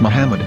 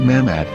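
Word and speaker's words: מחמד: yehuda's hebrew english dictionary it is correctly pronounced as muhammad not mahmod so how we're going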